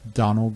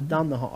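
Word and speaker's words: Domhnall: And apparently it's pronounced Donald Gleason. Donald Gleason? According to Stephen Steve Schindler, it's Donald Gleason. Oh, so yeah. It's like Donald, but without. I thought it was Don the Hall.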